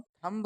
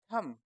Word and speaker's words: thumb: दोस्तों इसमें जो बी लेटर है ना, वो साइलेंट है। इसको हम थंब नहीं बोलते, इसको हम क्या पढ़ते हैं? THUM, थम।